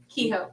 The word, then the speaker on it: Kehoe: How do you pronounce Liss's last name? Kehoe.